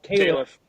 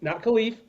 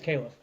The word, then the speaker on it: Caliph: want to remind people, Caliph, not Khalif, Caliph Battle. He was great. And his incredible barber that has put on a war since March 1st. That really is how you pronounce it? Yeah, it's Caliph. It's Caliph, yeah.